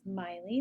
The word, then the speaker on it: Maile: Um, Again, my name is Miley. That's how you pronounce that.